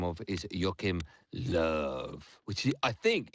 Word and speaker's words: Joachim Löw: One of my favourite managers that I like to pronounce the name of is Joachim Löw, which I think it's exactly how he says